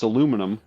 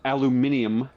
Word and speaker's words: aluminium: From the fact that it's not tin, it's aluminum, It's aluminum. Yeah, and the British call it aluminium. as it should be pronounced when you look at the word itself.